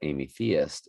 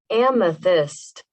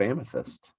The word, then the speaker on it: amethyst: was like amy ish amethyst straight up amethyst amethyst it's gonna be hard for me to unlearn amy theist amethyst it's like meth methamphetamine amethyst come on man you